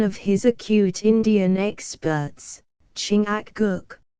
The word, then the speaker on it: Chingachgook: his acute Indian experts chingachgook pronounced Chicago I think has lost the trail